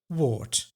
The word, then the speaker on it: woord: And because a D at the end of a word is pronounced as T, this also counts for the word woord.